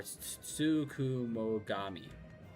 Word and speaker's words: Tsukumogami: It's pronounced or Tsukumogami.